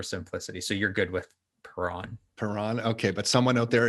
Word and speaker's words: Perron: my own name so i kind of anglicized it uh back to perron um just for for simplicity so you're good with puran okay but someone out